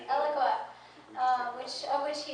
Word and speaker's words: Eloqua: you um eloqua I said it right correct eloqua um which of which he is the CTO